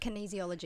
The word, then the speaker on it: kinesiology: Kinesiology. Kinesiology. So as in kinetic.